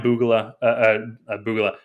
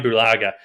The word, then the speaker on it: Bulaga: one exception um uh brian boogela okay i like boogaloo better boogala but uh brian bulaga is saying it right tackle they're bringing